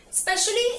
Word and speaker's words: specially: Specially is also an adverb and does not have the small E sound. So we say specially.